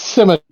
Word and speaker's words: scimitar: No, because you said Did I say scimitar. that wrong? Okay, I'm glad. It's scimitar.